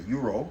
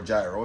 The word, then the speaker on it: gyro: So, generally when you're in Greece and you get a a gyro or a gyro, some people want to pronounce it that you usually get your choice of tzatziki sauce.